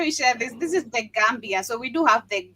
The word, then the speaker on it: The Gambia: They saying it's called the Gambia, not Gambia. It's the same country. They're saying that you're pronouncing it wrong.